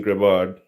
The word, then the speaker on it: Grebard: I say Grebard. Grebard. Yeah, that's how I Grebard. say it. Yeah. Grebard. Yeah. I mean, I've heard you say it too. So. But Koro has always called me Grebard, and I don't want